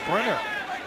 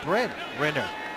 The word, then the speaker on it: Brent Renner: That was a terrible job of me pronouncing Brent Renner's name. I kind of combined it for Brenner, but it's Brent Renner.